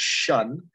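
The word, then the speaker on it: -tion: what have you uh t-i-o-n which is usually pronounced as shun also creates a noun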